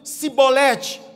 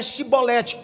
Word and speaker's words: chibolete: Então fala para mim, cibolete, chibolete, o sutaque da forma que eles diziam denunciavam, porque a forma correta é chibolete.